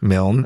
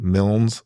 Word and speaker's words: Milne: I think it's Milne. Milne.